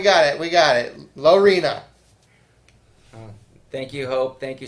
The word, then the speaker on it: Lorena: texas there you go you guys are still pronouncing it wrong it's lorena lorena sarah let us know